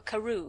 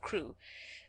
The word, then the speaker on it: Crewe: difference in the name madame pascal pronounced it as if it were karoo instead of crew but that might be